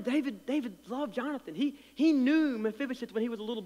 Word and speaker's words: Mephibosheth: It says, now when Mephibosheth, that's how you say it, Mephibosheth, the son